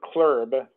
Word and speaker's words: CLERB: The Citizens Law Enforcement Review Board, or CLERB, and they say it like that, even though I don't like saying acronyms that way.